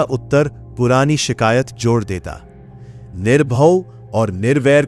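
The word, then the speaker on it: ਨਿਰਭਉ: निर्भव भय से रहित उच्चारण निर्भव है। इसे सुविधा से निर्भय बदलकर नहीं पढ़ते।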